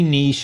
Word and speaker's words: niche: okay first of all you say Niche and I'll say Niche and then we're covering both bases this is the beauty of two pixels off you be consistently Niche cuz you're Posh and hillbilly and I'll be Niche all right so how do